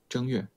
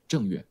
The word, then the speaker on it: 正月: Option A, 正月. Option B, 正月. Which one is correct? Which tongue is the correct tongue for the first character? Option A, the first character is pronounced with the first tone.